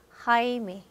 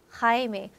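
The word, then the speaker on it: Jaime: 제임스가 스페인어는 하이메, 하이메. 저희는 영어의 제임이 아니고 영어의 제임스에 해당되는 이름입니다. 하이메.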